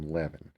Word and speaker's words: Lewin: The name Lewin is the same as the name Levin. It's just an alternate spelling, alternate pronunciation, but it's essentially the same name.